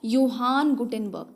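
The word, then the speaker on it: Johannes Gutenberg: इनका प्रोनाउंसिएशन देख लो, योहान गुटेनबर्ग का।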